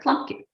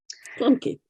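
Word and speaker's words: Klumpke: for Anna's last name I think it's clumpy that's what I was thinking but so say all of us so clumpy clumpy uh Gretchen earn Gretchen earned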